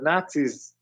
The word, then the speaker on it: Nazi: Why do people keep saying not Z Okay, it's not pronounced that way. It's Nazi. There's no T in the word.